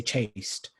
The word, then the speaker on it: chaste: that hearts stay chaste in british english we say chaste so it doesn't really rhyme with lost uh and in canadian